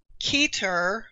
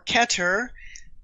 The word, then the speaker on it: Keter: And it was up to Keter, or Keter, people pronounce it different ways, who is also Adam Kadmon.